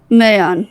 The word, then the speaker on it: Mayan: Mayan, yeah. Mayan. Like the month of May.